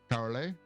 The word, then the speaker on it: Carolei: celebrating Cubby Broccoli's heritage I'm probably going to mispronounce this. I apologize. So please correct me. Is it Corelli? Carolei.